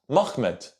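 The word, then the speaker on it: מחמד: In singular form, the word is pronounced Mahmed.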